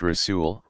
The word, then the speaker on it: Rasul: Rasul, pronounced Rasul, one who is sent.